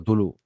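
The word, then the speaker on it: Cthulhu: ¿Cómo se dice cómo se dice Tulu, a ver?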